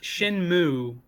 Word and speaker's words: Shenmue: it up it's pronounced shinmu don't actually pronounce the e yeah yeah the acting